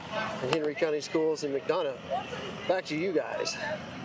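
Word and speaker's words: McDonough: Well, it's named right after the town you were just talking about, Mcdana.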